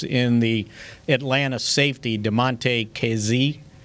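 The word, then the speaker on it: Kazee: the atlanta safety demante casey is that how you say it kz yeah uh you know he's played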